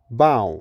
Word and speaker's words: bough: Now, check your pronunciation in the first word 'chaos' /ˈkeɪɒs/ number two 'ewe' /ju:/ number three 'bough' /bɑʊ/ number four 'thorough' /ˈθʌrə/ number five 'dough'